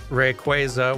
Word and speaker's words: Rayquaza: avoid this after the Rayquaza debate the way I say it is Rayquaza while the official pronunciation is more like Rayquaza yeah but and that's